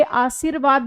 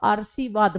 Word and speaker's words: आशीर्वाद: आरसीवाद बनेगा ये। ठीक है ना? क्योंकि र का उच्चारण पहले हुआ। इसमें र का उच्चारण हम बाद आशीर्वाद ठीक है ना? आशीर्वाद र बाद में आ रहा है।